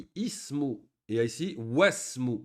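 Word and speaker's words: واسم: Et ici, wasmu. On ne dit pas wa ismu. On dit wasmu. On fait la liaison.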